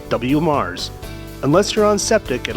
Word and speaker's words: WMARSS: They go to Mars. No, not that Mars. This Mars. The Waco Metropolitan Area Regional Sewerage System, or WMARSS, pronounced WMARSS.